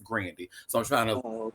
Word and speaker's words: Grande: You know, usually we say Ariana Grande, but she has said that her name is pronounced Grandy.